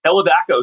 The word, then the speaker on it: Elevaco: our prep meeting was first how do you say this is it elevaco or el how do you say this this non-profit you're a part of so it's elevaco elevaco so elevaco is a